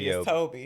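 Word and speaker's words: Tobe: And it was directed by Toby Hooper or Tob. I don't know how you say his name. Toby. It's T O B E.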